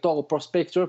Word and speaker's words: Prospector: Alors, le tout a commencé, comme je l'ai mentionné au début, avec la BD indépendante Prospector ou Prospector, puisqu'on le prononce avec l'accent anglais là.